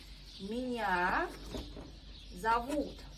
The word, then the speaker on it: меня зовут: So it's important, pay attention on stress. Меня зовут. Also very good rule, pronunciation rule. We pronounce O without stress like A in every word you see. That's why we say меня зовут.